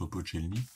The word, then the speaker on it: Opolchenie: donc les milices de levée de masse, hein, Opochelny. Alors lui, c'est écrit Opochelnier, donc on prononce Opochelny.